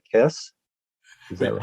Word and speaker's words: Kes: His first film score, 1969's, uh, make sure I'm pronouncing this right, Kess.